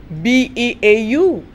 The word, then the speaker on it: Beau: In this lecture, my dear students, we are looking at one essay, Beau, Tibbs. Yeah, B-E-A-U is pronounced Beau, Beau Tibbs, by Oliver Goldsmith.